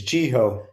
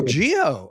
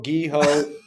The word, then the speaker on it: Geho: You did not. But you were close. It's Gho. Just like how Oh, Gio. Yeah. I've been called ghetto gecko. Guho.